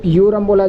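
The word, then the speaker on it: Aurum: correct answer होगा जिसको यू रमला जाता है यू रम ठीक है ए इसमें साइलेंट रहता है यू आर यू एम ठीक है यू रम बोला जाता है ए यू आर य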